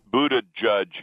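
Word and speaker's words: Buttigieg: Pete and his son late booted judge is the way he told me the Sun it's except for the G so it's judge you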